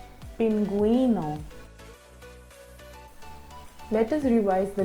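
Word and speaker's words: pingüino: When used on the vowel U, the vowel U is pronounced. Let me help you pronounce the following examples. GUE becomes vergüenza, vergüenza. And GUI becomes GUI, pinguino, pinguino.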